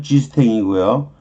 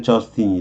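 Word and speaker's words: Justin: 이거 불어식으로 발음하면 G스탱이고요. 영어로 하면 그냥 저스틴이 되는 거죠.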